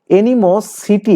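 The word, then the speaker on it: animosity: ইংলিশটা হচ্ছে এনিম মোস্টি। এনিম অর্থ হচ্ছে কি? শত্রুতা। এনিম সিটি। আপনি এটাই পাবেন বা এটাকে আসলে উচ্চারণ হচছে এনি মোস্টি।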